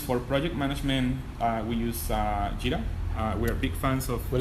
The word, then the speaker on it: Jira: Jira. That's Jira, as in Gojira, which was the original name for Godzilla.